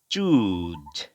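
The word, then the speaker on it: choose: আমাদের পরবর্তী যে শব্দ সেটি হচ্ছে চুজ, হ্যাঁ। আমাদের এখানে এই দুইটা মিলে হচ্ছে সিএইচ সাউন্ড, সিএইচ সাউন্ডটা এরকম উচ্চারণ হবে ছ। তাহলে সিএইচ সাউন্ড এবং লং উ, চু, এবং পরবর্তীতে জিড, হ্যাঁ।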